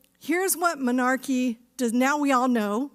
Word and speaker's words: menarche: And that word, including me, by the way, before I started this work, and that work is menarche. It's spelled M-E-N-A-R-C-H-E, menarche.